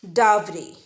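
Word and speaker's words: dowry: Pay attention on the pronunciation, it's डावरी।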